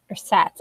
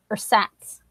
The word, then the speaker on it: Ersatz: Ersatz. At least that's what the audiobook said. Ersatz. So it's kind of like pronounced like it's spelled.